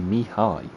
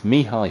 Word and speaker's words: Mihai: then I've got here, it's actually Mihai is how you pronounce his surname. So apologies to Laszlo. It's Mihai from now on.